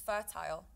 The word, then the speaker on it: fertile: behind my house is fertile fertile fertile like there's a tile there is a tile t-i-l-e okay so without the fur f-e-r how would you pronounce it tile right tile yes see